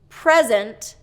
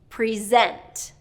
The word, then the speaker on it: present: Present, present. So do you hear how the stress changes the pronunciation?